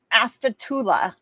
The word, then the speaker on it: Astatula: Astatula, Florida.